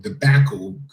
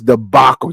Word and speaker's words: debacle: regarding the Fox Sports One debacle it's debacle you dummy involving Joy Taylor and